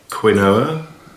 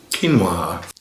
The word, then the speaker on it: quinoa: And the first thing to realize is that it's not pronounced quinoa. It's pronounced quinoa.